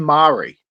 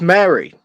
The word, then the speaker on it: Mari: Why do you keep saying Mari? Because her name is spelled Mari, Mari. Yeah, but it's Mary. It's Is it said Mary? explicitly throughout the film.